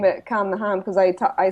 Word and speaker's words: Calm the Ham: if people don't know say that in irish your accent calm the home right so in my accent it rhymes and when i was